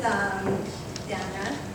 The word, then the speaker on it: Dana: This is Donna. It's spelled Dana, but her name is Donna.